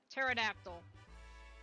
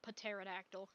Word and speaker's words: pterodactyl: again starts with a P same with um pterodactyl and I like to piss people off by saying paterodactyl so many Dino haters so many people that